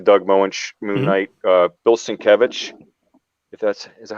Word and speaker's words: Sienkiewicz: But I've been reading some like the Doug Moench Moon Knight, Bill Sienkiewicz. Is that how you say it? Yeah, Sienkiewicz.